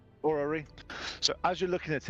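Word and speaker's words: orrery: can't pronounce this so let me see if it's a orary o r r e r y or yeah orary so as you're looking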